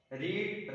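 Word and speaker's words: read: Spelling is same, लेकिन जो pronunciation है वो डिफरेंट होगा। रीड, रेड, रेड, रीड, रेड, रेड एंड रेड वन।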